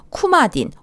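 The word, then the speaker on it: Coumadin: 또 와파린 와파린은 물질명이고 쿠마딘 혹은 코마딘이라고 읽는 항응고제 투여합니다 5번 통증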